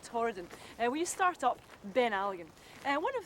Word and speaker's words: Beinn Alligin: The Gaelic pronunciation would be Beinn Alligin.